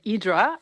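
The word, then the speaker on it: Ύδρα: Uh the island that the the Greeks pronounce it, Idra, um really occupies a very interesting place in the Greek imagination.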